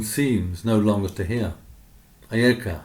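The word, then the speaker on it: אֵיכָה: The same word, pronounced ayeka, opens the book of Lamentations, how the city sits solitary that was full of people.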